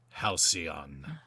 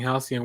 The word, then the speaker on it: Halcyon: like, first of all, until we did this podcast, I didn't know how to pronounce his name, so thank you guys very much for that. For some reason, I always kept reading it like with the C and the L backwards, but yeah, it's really